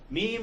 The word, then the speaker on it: meme: those who like visuals meme rhymes with cream smallest unit of replicating